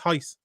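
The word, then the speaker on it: Royce: roiuce but it's pronounced heist yeah like all the dos players like you're saying that the r's are silent no it's a h instead of an r it's pronounced with a h oh it's like it's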